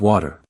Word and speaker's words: water: Although it's spelled with a T, when Americans say it, you'll often hear a soft D sound instead. So, we don't say water with a crisp T. We say water with that relaxed D-like sound in the middle.